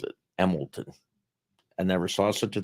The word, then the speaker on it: Emlenton: emlenton everybody pronounces it emilton I never saw such a thing the spelling would be e m e l t o n but it's emlenton but it's pronounced emilton by by the natives by the natives since